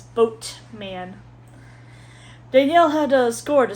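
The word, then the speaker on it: Boatman: I thought it was Bode men. B O D E M A N. It's boat man.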